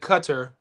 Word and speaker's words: Qatar: The locals there pronounce it Cutter.